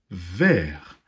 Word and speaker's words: vers: c'est le mot outils vert avec un s muet à la fin vert comme par exemple